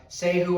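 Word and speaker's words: Sahoo: on amazon um it's uh say who i believe is how you pronounce it s-a-h-o-o just a good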